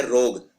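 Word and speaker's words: rogue: उसे बोलते हैं रोग तो रोग को नॉर्मल लिख देते हैं लोग आर ओजी आरओ जीी नहीं है आरओ जीी के बाद यू और ई भी आते हैं इसे बोलते हैं रोग हां लेकिन बोलने में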